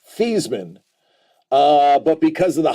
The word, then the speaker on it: Theismann: desensitized compared to Joe Theismann which is actually pronounced these men uh but because of